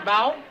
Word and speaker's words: bough: B-O-U-G-H is bow?